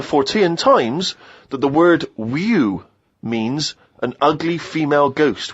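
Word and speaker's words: wewe: It was just W-E-W-E. Let's call it a woo.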